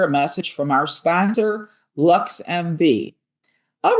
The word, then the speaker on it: LXMV: LXMV, pronounced Lux MV, is Chicago's first ever